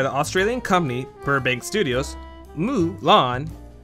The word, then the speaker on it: Mulan: Australian company Burbank studios mu lon yes that's how they pronounced in the movie it's his take on